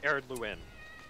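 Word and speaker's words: Ered Luin: It's pronounced Eredluin.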